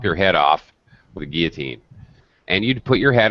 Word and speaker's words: guillotine: haven't heard about it french word strange pronunciation you don't really pronounce the else guillotine it was a huge